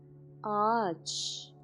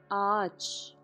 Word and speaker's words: Ağaç: Like here, I have a, yumuşak a, so the yumuşak becomes a. This is uzun ünlü. Ağaç is tree. It means tree. Ağaç.